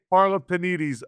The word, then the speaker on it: Parlapanides: It's like we say Parlapanides almost rhymes with Wheaties, but not really.